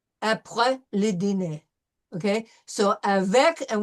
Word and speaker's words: avec: Okay, so avec, and we know that we pronounce the C in avec.